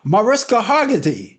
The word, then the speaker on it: Mariska Hargitay: The actress that played on that series, how do you pronounce her name? I'm sorry. Mariska Hargitay.